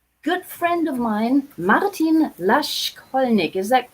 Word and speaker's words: Laschkolnig: Anyhow, I bring to you today a good friend of mine, Martin Laschkolnig. Is that correctly pronounced, spoken?